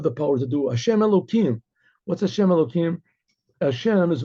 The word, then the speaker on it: Elohim: punctuated like this you don't pronounce it you pronounce it elohim so it says elohim these are both names